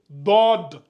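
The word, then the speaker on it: ضاد: lui on va l'appeler DOD la même chose ici regardez j'écris d ici je mets un petit o en bas ici qui doit être subtile DOD DOD donc on a SOD et DOD DOD DOD donc vous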